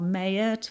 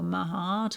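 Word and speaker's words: Maat: So card number one is M or Mayot or Mahart or there are loads of other ways of pronouncing her name.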